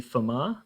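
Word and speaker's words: Fermat: guy called Pierre D forar the t is silent that's him there in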